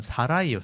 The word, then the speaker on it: 사라이: 또 여기 사라는 사레라고 돼 있는데 원래이 사라의 발음은 히브리 원어에는 사라이예요. 사라이. 사라이 이게 원래 이름이에요. 근데 사레라고 한글에 써 놓은 거예요.이 히브리어로 써 놨잖아요.